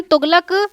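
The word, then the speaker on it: Tughlaq: रहा है यहाँ पर, इसे जो है हम तुगलक या फिर तुगलुक भी बोल सकते हैं। यहाँ पर जो है वो स्पेलिंग जो है वो अलग अलग तरीके से लिखी जा सकती हैं ऑब्वियसली।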